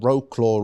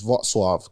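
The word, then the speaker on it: Wrocław: It's spelled Roclaw or Rockclaw, whatever, but it's Vatswave cuz I spoke to my Polish people then like um yeah, very lovely city.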